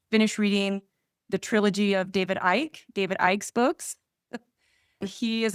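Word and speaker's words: David Icke: I did just finish reading the trilogy of David Ike, David Ike's books.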